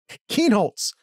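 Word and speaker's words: Kienholz: And of course, then again, maybe Lincoln Klein is Keenholz. Why I always mispronounce his name.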